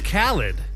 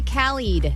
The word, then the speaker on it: Khaled: That's Khaled. You got to hear the way Ally said it, though. It was I said it was the pronunciation. I didn't say khalied. You said callied.